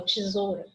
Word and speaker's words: tesoura: Que eu falo tesoura, tesoura, tesoura. O som do O prevalece sobre o U, não prevalece?